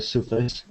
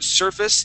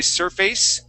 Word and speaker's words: surface: on that word surface even though it's it ends with an a sorry an AC e uh we don't say surface okay like the word face would be we would say surface and give that more of an is sound surface okay all right very